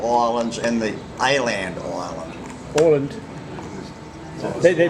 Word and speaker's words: Åland: Åland. They pronounce it Åland.